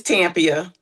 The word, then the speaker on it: Tampia: It's Tampia. Oh, it's Tampia. Okay, all right. So the accent is on the first syllable.